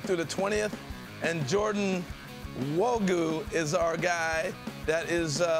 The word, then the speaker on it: Nwogu: Nwogu. The N is silent.